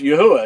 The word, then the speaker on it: Yahweh: But if you'll stay fast, steadfast to it, and he'll reveal that his name is Yahweh and you'll know that that's how his name is pronounced.